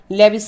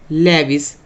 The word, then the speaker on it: Lewis: उसको हम क्या कहेंगे, लेविस symbol is called लेविस symbol. Luce भी बोलते हैं इसको, मैं लेविस बोलता हूँ, अपनी अपनी प्रोनाउंसिएशन है।